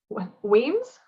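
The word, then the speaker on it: Wemyss: I don't want to say the word too much because I know I'm just gonna keep Weems. I think it is Weems, yeah.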